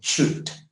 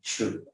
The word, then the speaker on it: should: Remember, in pronouncing should, you do not pronounce the L. You do not pronounce the L. So should, yeah, should.